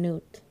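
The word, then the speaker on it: Noodt: from here on out he will be known as van nute that's better than but it's like spelled like n-o-o-d-t so all i see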